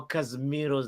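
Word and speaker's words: Casemiro: Um, LB says, "This is how Kazmiro's name is pronounced."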